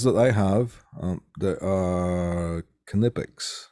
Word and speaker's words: Knipex: The ones that I have, there are Knipex. You actually pronounce the K.